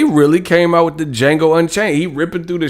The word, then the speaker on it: Django: came out with the django unchained he ripping through the shackles bro they really came with the jingle and chain joint the d is silent man stop stop bro